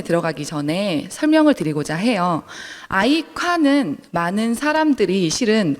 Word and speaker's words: 아이콰: 아이카는 많은 사람들이 실은 발음을 할 때 되게 어려워하세요. 중국어인데요. 아이가 사랑 애자고 콰가 자랑할 괴자여서 아이카라고 불려지는데 많은 사람들이 아이쿠 아이큐어, 이렇게 부르시더라고요.